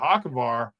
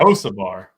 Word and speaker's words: Hocevar: like him too, but Hakovar, I just think he's good. I think he's good. And what'd you say? Hakovar? Hocevar. Hocevar, is that how you say it? Yes.